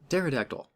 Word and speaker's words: pterodactyl: apples Fila tdys phytoplankton pterodactyl no it has a silent P in the front P DIPA T's ran